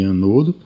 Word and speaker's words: ânodo: chamado de andando que nós pronunciamos assim cotidianamente no vício de linguagem na chamado de ânodo e o terminal negativo